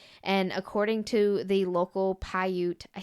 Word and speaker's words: Paiute: And according to the local Paiute, I said it right for the first time.